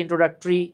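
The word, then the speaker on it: introductory: হ্যাঁ, টরিগুলোর উচ্চারণ হয় ট্রি। যেমন আমরা বলি ইন্ট্রোডাক্টরি, এটা হচ্ছে ইন্ট্রোডাক্টরি।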